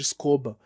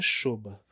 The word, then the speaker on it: Shoba: parceira, veio a Shoba, que até então eu chamava de Escoba, mas eu descobri, não tem muito tempo, num vídeo deles no YouTube, que a pronúncia correta é Shoba.